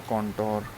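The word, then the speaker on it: contour: Next word है कॉन्टोर। कॉन्टोर को हम ट्रिकी वर्ड ले सकते हैं, कॉन टूर। कॉन्टोर से के प्रोनाउंसिएशन से बन सकता है कॉन्टोर, कॉन्टूर।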